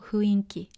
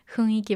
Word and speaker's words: 雰囲気: ダークな雰囲気。Be careful, it's not 雰囲気, it's 雰囲気。Some people mispronounce it, but the actual pronunciation is 雰囲気. Okay, it's not 雰囲気. Okay, be careful. A lot of natives say 雰囲気, but it's not the right pronunciation.